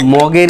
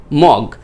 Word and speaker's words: mug: মাগ মানে MUG, MUG, আবার মুগ উচ্চারণ করেন না যে MUG মুগ, JUG যুগ, ওরকম না, JUG জাগ চলে গেল, আর MUG মাগ, তাহলে MUG মাগ, এই মাগটাকে আমরা বলতেছি